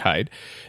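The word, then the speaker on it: Heide: see at michael hyde h-e-i-d-e i believe that's pronounced hide there are so many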